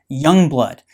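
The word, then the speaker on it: Jongbloed: titles and names royal Young Blood Royal young blood or simply Young Blood spelled with a J it is the Premier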